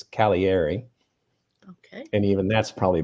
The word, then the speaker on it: Cagliari: is uh caviari okay again there's a g in there that's silent it's c-a-g-l-i-a-r-i looks like cagliari but it's calieri okay and even that's